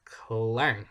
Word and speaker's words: Klang: And if we look, the second most populated city in Malaysia, that's Klang, I think it's pronounced, which is around 900,000 people.